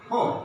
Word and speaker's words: hope: Hop. The pronunciation is hop. That means O. In this word, O is being pronounced hop. That means straight, not narrowly, but in this word, O is pronounced hope. That means our lips and our mouth is being narrow and should be slight narrow.